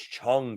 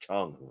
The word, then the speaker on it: Cang: Cang toys, or apparently it's Chung toys. Apparently it's actually pronounced Chung.